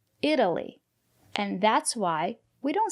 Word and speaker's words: Italy: If it's not stressed, we pronounce it as D, Italy.